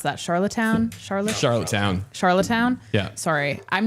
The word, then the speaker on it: Charlottetown: So obviously we don't have the audio for it because this just happened, but Charlatan, how do you pronounce that? Charlottetown?